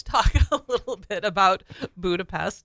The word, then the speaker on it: Budapest: call it today but how would you pronounce Budapest well uh since I'm not a psychopath I'd say Budapest well you're an English-speaking non psychopath all right okay we'll go with that all right because we'll we pronounce the S sound s yeah but in Hungary they pronounce the S as an S that's just crazy so you will hear hungarians say budapes okay so if you